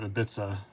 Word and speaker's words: Ibiza: cia ibiza and then somebody said no it's a bith i go oh like the place and i was like yeah like where's the ibiza yeah you're you're correct j-turn yeah it's ibiza like the place and